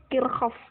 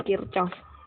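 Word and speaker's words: Kirchhoff: kita ke Hukum Kirchoff Kirchoff dunia salah pengucapannya yang bekerja kircoff yang benar bukan Kirchoff tapi agar lebih gampang ya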